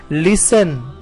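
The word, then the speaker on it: listen: देन लिस्टन, है ना, लिस्टन ये लिखा हुआ है लेकिन जब हम उसे रीड करते हैं तो हम कहते हैं लिसन। लिसन में T साइलेंट होता है।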